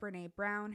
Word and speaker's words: Brené: or YouTube, please, please, please go check out Brené Brown. Her first name is spelled Brenee, last name Brown like the color.